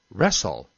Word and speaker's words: wrestle: w very little sir sometimes i'm silent as in the word wrench and wrestle and whole and who